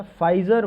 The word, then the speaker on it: Pfizer: इसी तरीके से कल मैंने एक बताया था फाइजर vaccine, PFIZER, P silent था उसमें, ये UK के द्वारा लॉन्च किया गया है।